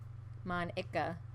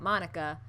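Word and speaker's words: Monika: Mon Ika. So apparently I'm pronouncing her name wrong too, because I'm pronouncing it Monica.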